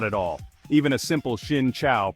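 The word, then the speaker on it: Xin chào: all even a simple Shin Chow pronounced sincha for hello or cam on pronounced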